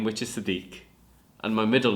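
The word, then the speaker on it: Siddiqullah: name so essentially my first name which is sadik and my middle name are together and it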